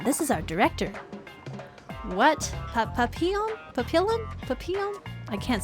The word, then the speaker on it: Papillon: Papillon is how you say it. Okay, thank you. Thank you, Andu. I butchered that.